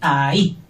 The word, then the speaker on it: ahí: Tiene dos sílabas, se dicen dos golpes, ahí. Y lleva H intercalada y acento en la I.